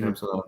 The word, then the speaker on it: Samsonov: And it kind of squirted through Samsonov. Is that how we say his name? Mm-hmm. Samsonov.